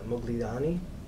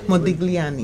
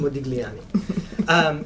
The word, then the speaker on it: Modigliani: And there is an exhibit, Mogliani. I always say it wrong. Anyone can help me out? I have problems saying his name also. Modigliani. Modigliani.